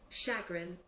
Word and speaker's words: chagrin: I'm now listening to how words pronounce and then pronouncing them properly. Chagrin.